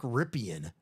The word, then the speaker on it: Rypien: Maybe we don't have an old Joe Theismann situation going on that Mark Ripien, he's like, actually it's pronounced Ripien all these years.